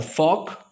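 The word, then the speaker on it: folk: Walk, उसके बाद फॉक, और उसके बाद चॉक। सो आप सारे स्पेलिंग नोट कीजिए।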